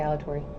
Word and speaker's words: Alatorre: just say Alatorre. You don't have to roll your R's.